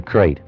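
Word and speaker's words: krait: of a snake a crate is first the crate you spell it k r AI T they're in India the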